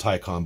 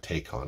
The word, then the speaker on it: Taycan: so let's talk about the tycon it is pronounced tycon by the way not take on i know i know whatever anyway what i